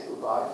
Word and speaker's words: Oubai: Actually, I was born in Dubai, so if you say Oubai from Dubai, it rhymes.